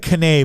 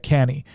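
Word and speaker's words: Cannae: Battle of uh canny it looks like cane but it's actually pronounced uh canny so he he gets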